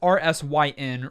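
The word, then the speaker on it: Rysn: Her name is Risen. And she is, I'm maybe mispronouncing that a little bit. It's Rysyn, Risen.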